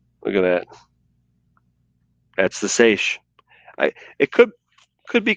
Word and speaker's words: seiche: and she learns the sashay and when i first seen this word i thought that's how you pronounce it but let's do that it's a good point good question there banta sage one more time sweetheart